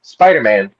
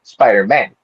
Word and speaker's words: Spider-Man: There's a little space, a little pause between spider and man. So, it's actually Spider-Man, not Spider-Man.